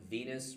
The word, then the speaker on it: venous: And the way I remember that the vein is more medial than the artery is the rhyme venous rhymes with penis.